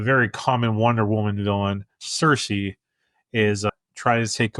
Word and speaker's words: Cersei: that caught me is I've always heard it pronounced Cersei but they say it like cersi or they they say it different on the show and it it one